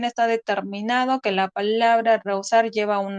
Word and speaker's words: rehusar: Tenemos que la H colocada entre dos vocales diptongables no impide la formación de un diptongo. Tal es el caso de estas palabras. Como ejemplo, rehusar y prohibir.